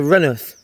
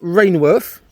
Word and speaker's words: Rainworth: This is Renith on the left hand side. Not Rainworth, like you would think it could be spelt. Well, it is spelt Rainworth, but locals call it Renith.